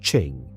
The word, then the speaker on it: Qing: The name is pronounced Ching.